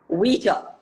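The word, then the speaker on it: Ouija: have never tried what's it called it's called pronounced as WEA it spellings are o i o u i j a yeah but it's pronounced as WEA Bo goodness gracious you see the people from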